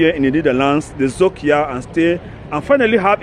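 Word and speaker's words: Zoekjaar: Zokia in English is called search year. Zok is a Dutch word that means English search. Ja in English means year. So it is spelled Z-O-E-K-Y-A-A-R. Zokia.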